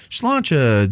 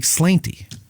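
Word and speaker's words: sláinte: try schlanter you know everybody says shlancha you know during uh and then you read it and it's like slanty okay and i'm like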